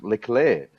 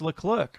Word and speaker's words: Leclerc: Rafi whoa hey Croft he continues to call the clerk LeClair yet clearly in the net Netflix um it's Leclerc I know he said it himself I am Charles Leclerc yeah and again that's another